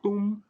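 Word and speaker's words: Christum: ium ium Yum crum então ch no crum tem som de k e o u no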